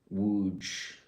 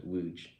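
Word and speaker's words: Łódź: Don't make me pronounce lots again. Wooge. Wooge. I got to I remember Wuge.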